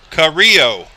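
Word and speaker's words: Camillo: there's one of those carrillo is how you pronounce it it's spelled c-a-m-i-l-l-o that's pretty cool so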